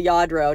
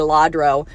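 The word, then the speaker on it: Lladró: row and they weren't I'm still waiting to find a piece of yadro now that I know how to say it I think I'm saying it right that's one word I used to say to Ladro and everybody's like no it's yadro and I'm like okay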